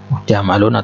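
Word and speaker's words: جمل: tidak katakan Haza jamrun jamaluna Tunya muntah Hai perhatikan pengucapan jamalun nya yang panjang tanah kalau dipanjatkan artis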